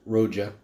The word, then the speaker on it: Roja: anyway a world of Rodia and and it's pronounced Rocha so anyway this to me guys is phenomenal